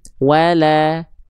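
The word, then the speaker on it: ولا: Maka ketika kita lafalkan bukan cuma dibaca shadaqawala, bukan wala, tapi wala, la, bukan la. Paham ya? Insya Allah ya. Fala saddaqa wala, gitu. Lamnya tipis, berharokat baris atas, gitu ya.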